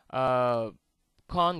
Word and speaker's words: con: Con is not really a nice word to say to a lady, so I'd rather not say it here, but just to see the difference of pronunciation, cône and con.